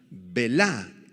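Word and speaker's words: בְּלָא: quebrantará esta palabra quebrantar belá en arameo con acento en la a y b grande vela esta palabra Me impactó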